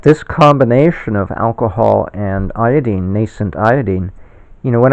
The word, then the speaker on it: iodine: nascent vert variety of iodine and I say iodine for a reason because that's the correct chemical the chemists pronunciation of the term you know we don't